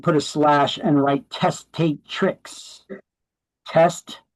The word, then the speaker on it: testatrix: Testat trx, but it's pronounced testatrix.